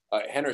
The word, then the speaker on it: Rener: Yeah, you guys can follow me for sure at Henner Gracie on Henner, spelled with an R, pronounced with an H, one N, Henner Gracie.